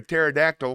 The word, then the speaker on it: pterodactyl: can't you hear a pterodactyl go to the bathroom because the p is silent I like that one